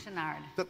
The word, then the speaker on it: Chouinard: Chouinard? Chenard. Chenard, thank you. Chenard.